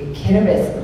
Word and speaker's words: Kiribati: proceeded to write, the Kiribati language there. So T-I's are pronounced like an S.